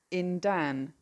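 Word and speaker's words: yndan: In Cornish, it's spelled Y N. On is W. W A R. Under is in dan.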